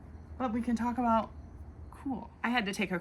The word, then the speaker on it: Kuhl: Kuhl is German for, can you guess? Cool. Kuhl is spelled K-U-H-L, the brand, and it is a German word for our English word of cool.